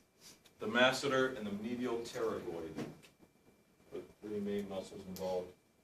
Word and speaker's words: pterygoid: the job we go terribly terribly spelled with a P as an all followed by a tee as in Tom the P is silent all three of those